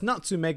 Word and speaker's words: Nutmeg: from a pun involving the word nutmeg, which is pronounced as Natsumeg in Japanese, and as many of you may know, Natsu is the Japanese word for summer.